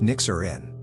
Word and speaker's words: Nixirin: After a lot of back and forth, we settled on Nixirin, pronounced Nyxerin.